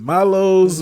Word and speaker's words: Milo's: Is it Milo's?